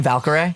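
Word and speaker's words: Valkyrae: Is that how you say her name, Valkyrie?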